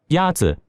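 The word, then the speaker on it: 鸭子: Is it Yazi? Yazi Is pronounced with a first tone. In Mandarin, there are 4 tones, which are essential to distinguish the meaning of words. The first tone is a high-level tone.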